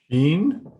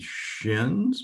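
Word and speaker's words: שׁ: And if the dot is over the right branch of the fork-like appearing letter, then it's pronounced as an SH sound.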